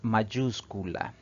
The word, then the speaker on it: mayúscula: tilde de manera obligatoria nuestra última palabra de análisis es mayúscula si separamos en sílabas esta palabra tiene cuatro sílabas y la mayor fuerza de voz recae en la antepenúltima sílaba contando de derecha izquierda